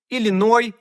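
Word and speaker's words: Illinois: називаємо ілліной та Арканзас треба читати без крайньої с ілліной арканзав і ви можете здогадатися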